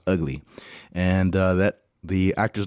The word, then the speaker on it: VGLY: And like I told you, it's spelled VGLY, but it's pronounced Ugly.